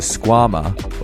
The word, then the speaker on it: Squama: The Squama, or rhymes with your mama, is a high-performance Velcro slipper aimed at getting you boulderers up your sickest project.